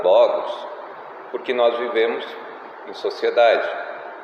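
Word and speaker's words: λόγος: certo em grego razão a palavra razão né se pronuncia Logos e Logos seria um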